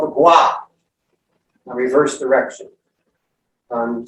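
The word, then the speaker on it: kua: this is called the gua a reverse direction um sometimes you'll see it's spelled k-u-a or q-u-a it's pronounced gua you say in the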